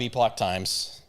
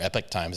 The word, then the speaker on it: Epoch Times: again i i love epoch times or epic times however you want to pronounce it i like calling it epoch so um let's see